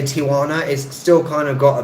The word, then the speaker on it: Tijuana: yeah so yeah so I used to say to you wanna like Tijuana four syllables but it's more like Tijuana right Tijuana three but I think it's